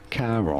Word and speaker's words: Charon: there's a, I don't know, how do you pronounce that? It's Charon. Charon.